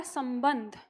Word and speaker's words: संबंध: उच्चारण म है और एक बिंदी का उच्चारण न है तो ये पता होना